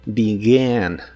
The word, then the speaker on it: began: Aquí también la E se pronuncia como I, pero la A no es la A normal, sino que es una combinación de los sonidos E y A. Began, began. Si se te dificulta pronunciarla al principio, practica repitiendo began mientras tratas de juntar el sonido E y el sonido A en uno solo.